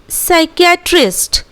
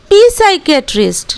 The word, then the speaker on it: psychiatrist: Likewise we have साइकियाट्रिस्ट, we have साइकियाट्रिस्ट। Here also we डू not pronunciate पी साइकियाट्रिस्ट, no never, we will pronunciate साइकियाट्रिस्ट।